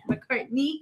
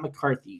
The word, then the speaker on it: McCartney: Yeah, Stella McCartney. That's how That's how you say it, and that's what the 7 brand is made from. Stella McCartney. McCartney. Not McCarthy.